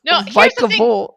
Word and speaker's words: Vikavolt: It's Vikavolt.